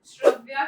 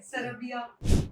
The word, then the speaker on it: श्रव्या: में तो मेरा नाम बहुत डिफिकल्ट है श्रव्या श्रेया तो उस चीज को जब मैं हरियाणवी और भोजपुरी इंडस्ट्री में आई हिंदी से तो लोगों को पता नहीं चल पाता था कि वो प्रोनाउंस क्या करें सरबिया शौर्या स्टेज पे नाम बोल रहे सरब्या सिंह श्या अरे यार चार नाम नहीं है मेरे और श्रव्या शौर्या ऐसे नाम थे तो मेरा नामकरण किया